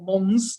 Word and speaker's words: Mons: city the city square in mon or mons depending on which pronunciation you like um and they reenact